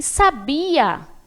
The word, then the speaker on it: sabia: E sabia, esse verbo aí, ó. Olha a tônica onde está. Sabia. Coloquei mais intensidade na sílaba bi.